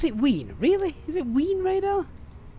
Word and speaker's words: Wien: Pronounce it Wien.